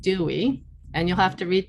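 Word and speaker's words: DOWE: of work experience and i shorten it as an acronym d-o-w-e and pronounce it dewey and you'll have to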